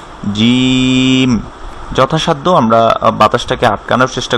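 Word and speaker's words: ج: Lesson 16 হচ্ছে জিম। যখন আমরা শুধু হারফটা পড়বো হারাকা ছাড়া, যদি হারফটা পড়ি শুধু, জিমের নুকটা হচ্ছে নিচের দিকে আর জিমে বাতাস বন্ধ থাকবে, জিম, জিম, জিম।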